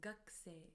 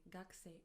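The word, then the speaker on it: 学生: Although we write it as gakusei, we pronounce it as gakse, gakse, as if the u from ku disappears.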